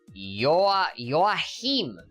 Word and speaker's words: Joachim: In the Japanese, his name is just pronounced Joachim. Joachim. Oh. Damn. Joachim, yeah, okay, I just heard it. Joachim sensei. Alright, cool. The J is a Y in here.